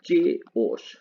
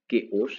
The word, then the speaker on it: chaos: लोग क्या पढ़ते हैं, चेओस। चेओस, नॉर्मली हम बात कर रहे हैं चेओस पढ़ते हैं, लेकिन ये क्या है, केओस है।